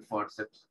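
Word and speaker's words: fórceps: En español es igual, pero con acento en la O, ¿sí? El forceps.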